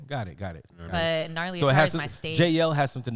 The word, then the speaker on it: Gnarly: what happened yes yes um my name is narly uh I also go by JL but